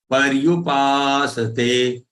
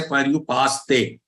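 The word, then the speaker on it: पर्युपासते: Don't say parayu. Don't say para. Ra is not complete. It is half. Paryu, paryupasate, paryupasate. And this sa is complete. Don't say paryupaste. Don't say paste. Pasate.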